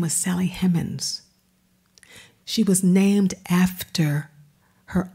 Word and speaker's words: Hemings: her maiden name and it's spelled h-e-m-m-a-n-s that's if you're in the south and you're dropping that ing what does that sound like to you hemmons hemmons her name was sally hemmins she was named after